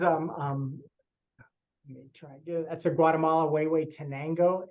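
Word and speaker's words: Huehuetenango: is this is um um that's a Guatemala way way tenango it's that's how it's pronounced it's a really long Indian name it's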